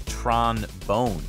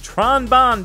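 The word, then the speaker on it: Tron Bonne: for Mega Man Legends the developers wanted to name Tron Bon after the trombone instrument so technically her name is Tron bone but the localizers were like nah that's weak sauce Tron Bond baby I prefer this localization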